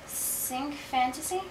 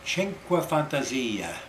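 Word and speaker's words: Cinque Fantasie: how to pronounce it is it sink fantasy oh you're not Italian are you no well I actually don't speak Italian Chena Fantasia which means five fantasies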